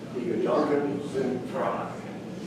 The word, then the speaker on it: Die Gedanken sind frei: So how do you say that one more time, Dee? Die Gedanken sind frei. Dolphins and fry.